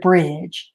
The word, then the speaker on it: bridge: the sound together the d is silent as well so the d and the e are silent in this word when you run the sounds together but you write the d and e in this word when you write the word out so this is the